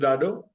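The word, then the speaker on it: ڏاڏو: This is डाडो, दादा। दादा is grandfather, grandfather is called डाडो, ठीक है। डाडो, DDA, डा, DDO, डो, डाडो।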